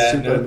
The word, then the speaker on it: Supa: And then the next one was the super meter. Supa Meter. meter. Say it right. Supa meter, I think. Didn't he add? No, it's Supa meter. Supa, you're right.